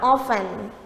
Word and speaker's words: often: อ ก เ สี ย ง ว่ า often often ค ว ร ไ ม่ ไ ด้